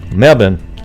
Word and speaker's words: Melbourne: you thank you living in Obon as they pronounce it Mebane Mebane her let's see I live in Melbourne hey Laurie lot thank you Wow when I